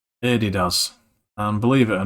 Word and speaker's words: Adidas: So, Adi Daz. So there you go, you've been pronouncing the name of the company wrong all these years. It's Adidas.